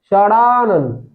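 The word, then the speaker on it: षडानन: वागजाल, शटानन और सडानन, सडानन सडानन रहता है। उच्चारण सुन लीजिए, सडानन सडानन सडानन रहता है, और सटानन सडानन, इसका सही होगा सडानन, इसका सही क्या होगा सडानन, इसका सही होगा सडानन।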